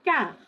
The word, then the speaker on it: quart: Please note the T is not pronounced. Il est 20h moins le quart.